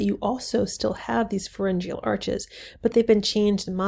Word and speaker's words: pharyngeal: Another trait that we have in common are these pharyngeal arches, and that's how you pronounce this word, pharyngeal.